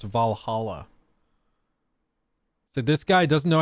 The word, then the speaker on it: Valhalla: much and you still don't know that it's pronounced Valhalla so this guy doesn't know how to pronounce